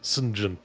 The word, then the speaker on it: St. John: John, but it's pronounced St. John.